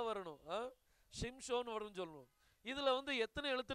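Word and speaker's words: שמשון: ஸ்திரீ ஒரு பையனைப் பெற்று அவனுக்கு என்ன பெயர் வச்சாங்களாம் ஷிம்சோன் அப்படின்னு சொல்லி பேர் வைக்கணும் நம்ம சிம்சோன் சொல்றோம் அது சிம்சோன் இல்ல அது ஷிம்சோன் ஷ ஷ வரணும் ஷிம்சோன் சொல்லுவோம் இதுல வந்து எத்தனை எழுத்து இருக்கு பாருங்க ஒன்னு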